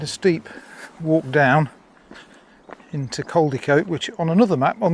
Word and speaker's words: Crowdecote: It's pronounced Crowdecote, not Crowdecote. Here is the Pack Horse